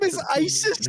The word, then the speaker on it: Isis: you look it up it is said the exact way that it is spelled it is unfortunate oh no is it like lineer no no no no no it's just a yeah it said the exact way it's spelled brother your name is